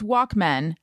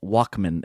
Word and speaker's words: Walkman: though i still it it's not even walk men it's walkman it's like like like david letterman it's spelled man but it's walkman you say in my walkman you don't say walk man oh wow thank you